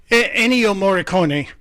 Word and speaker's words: Ennio Morricone: Because I can never pronounce the guy's name. No offense to my Italian friends. Ennio Morricone? Is that it? Ennio Morricone.